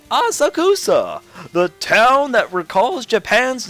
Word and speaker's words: Asakusa: I'm pronouncing all this wrong, I know. That's right! Asakusa! The town that recalls Japan's nostalgic traditions. This is Asakusa.